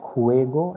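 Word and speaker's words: juego: then next one ending with o it is khuego and groupo so again the letter j is pronounced as cur so that is why it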